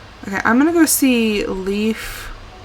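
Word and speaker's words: Leif: i'm gonna go see leaf i'm going to assume his name is pronounced leaf it's l-e-i-f i'm gonna go see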